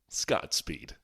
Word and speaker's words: Scott Speed: You gotta say it like Bond. Speed. Scott Speed.